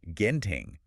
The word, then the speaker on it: Genting: And quick note for those of you listening who might be new to this specific stock, it is pronounced Genting with hard G.